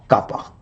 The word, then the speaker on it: kappa: permittivity or dielectric constant normally represented by this letter K pronounced as kappa.